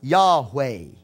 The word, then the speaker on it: Yahweh: make reference to that or sometimes pronounced Yahweh okay this name here